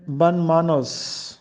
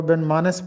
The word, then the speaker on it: بن مانوس: معنی ہیں بے سلیقہ۔ تو ہم اس کو بن مانس پڑھتے ہیں، جو کہ غلط ہے۔ درست تلفظ ہے بن مانوس۔ دوسرا اسی سے ملتا